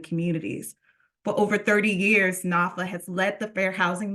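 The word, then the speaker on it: NFHA: The National Fair Housing Alliance, pronounced NAFA, is the country's only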